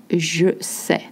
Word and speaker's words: je sais: Je sais nager, for instance, if you know how to swim. Je sais, not je sais, je sais.